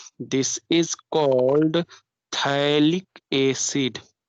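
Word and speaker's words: phthalic: This is called थैलिक acid. PH silent है, थैलिक acid, it is called acid, थैलिक acid.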